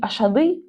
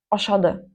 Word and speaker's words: ашады: Не ашады, а ошад.